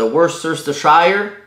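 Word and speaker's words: Worcestershire: tasses de sauce soya 1/4 de TASS de worire bien important de le prononcer comme ça 6 cuillères à soupe de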